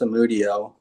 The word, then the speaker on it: Samudio: My last name is pronounced Samudio, but I'm not in my ideal setup right